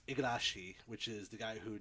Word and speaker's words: Igarashi: And the other one is Bloodstained, Ritual of the Night, which is done by, I always get his name wrong, it's Igarashi, which is the guy who did all the Metroidvania-type Castlevania games since Symphony of the Night.